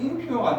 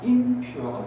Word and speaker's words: impure: 근데 여기에 똑같이 IN을 붙여서 impur인데 쌤 impure가 아니고 impure인데요. IN은 발음하기 편하려고 IM으로 바뀌기도 합니다.